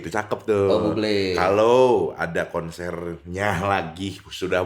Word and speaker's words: Bublé: Tolong ini buat teman-teman yang masih ngomong Michael Bubble ya. Oh, bacanya Ada. Bublé. Ya, Bublé. Bublé.